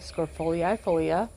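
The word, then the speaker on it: scrophulariifolia: Okay, Scrofolii folia. That's how you say it.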